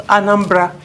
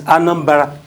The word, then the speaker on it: Anambra: Because Anambra, that's not how it is pronounced in the village. It's Anambra.